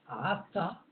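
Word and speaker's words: עתה: Vous constatez également que le premier mot du verset est avec un aïn et le 3e mot avec un aleph et se prononce ata, qui veut dire à présent. Tandis que ata, c'est le pronom personnel évidemment de la deuxième personne.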